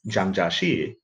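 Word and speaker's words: 蔣介石: westerner as Chiang kai-shek his name in chinese is jiang jieshi but in in pinyin there it's an opinion it's spelled je I am Jie Jie Shi Zhang Jia Shi which is pretty close to the Chinese in wave Giles it's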